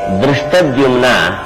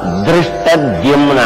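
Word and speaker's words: ಧೃಷ್ಟದ್ಯುಮ್ನ: ಇರಲು ಪಾಂಚಾಲ ಭೂಪತಿಯ ತನುಜ ದೃಷ್ಟದ್ಯುಮ್ನ ಅಂತ ಅವನ ಹೆಸರು ಬಹಳ ಕಷ್ಟ ಇವನ ಹೆಸರನ್ನು ಉಚ್ಚಾರ ಮಾಡೋದು ದೃಷ್ಟದ್ಯುಮ್ನ ಎಲ್ಲವೂ ಒತ್ತಕ್ಷರಗಳೇನೆ ಪರೀಕ್ಷೆಗೋಸುಗ ಅಲ್ಲ ನಿಜವಾಗಿ ಇವರು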